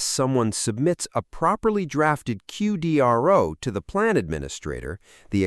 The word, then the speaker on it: QDRO: Section one, the QDRO, the legal document that controls everything.